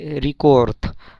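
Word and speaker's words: рекорд: তো ইয়া পাবিলা মীরা ভই রিকোর্থ, এখানে রিকোর্থ, ইংরেজিতে রেকর্ড, বাট রাশিয়ান ভাষায় এটাকে রিকোর্থ, রিকোর্থ, যদিও লাস্টে দে আছে কিন্তু এটার উচ্চারণ ত হবে, রিকোর্থ।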